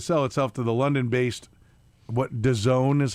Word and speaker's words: DAZN: Main Street Sports has been attempting to sell itself to the London-based, DAZN is how you're supposed to pronounce it, DAZN.